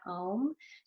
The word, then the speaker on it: Om: So there are 3 syllables to Om, Ah, O, It's supposed to represent